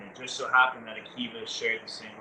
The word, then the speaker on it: AKiVA: AKiVA. AKiVa. That's AKI with a VA.